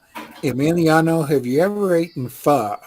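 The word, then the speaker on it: pho: have you ever eaten far far is spelled p-h-o can you repeat that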